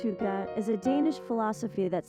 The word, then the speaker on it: hygge: Hygge, pronounced Hygge, is a Danish philosophy that celebrates the art of creating a warm and inviting atmosphere within your home.